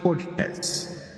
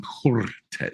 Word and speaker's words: Cortez: Her name is Alexandria Okasio Cortez. Okay. You got to roll the R on Cortez. Why?